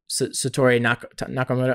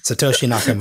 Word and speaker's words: Satoshi Nakamoto: cool to aspire to be, sort of the Satoru Nakamoto. I'm saying it wrong. What I know the Bitcoin anonymous. Nakamoto. Yeah, you know what I'm talking about. Satoshi Nakamoto.